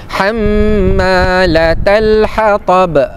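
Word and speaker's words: حمالة الحطب: Hamma mim yang bersabdu. Ha namanya wajibul ghunnaah. Wajibul ghunnah dua saja. Mim yang bersabdu dan mim yang bersabdu. Cara bacaannya dengun dengan kadar dua harakat. Ham ham yang m tu yang dua harakat. Hammalatal hatab. Hattab. Hammalatal hatab. Tab b. Ha ba tu adalah qalqalah kubra. Qalqalah kubra.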